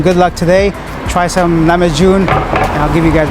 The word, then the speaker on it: Lahmacun: Lahmacun. How do you say it? Lahmacun? Lahmacun.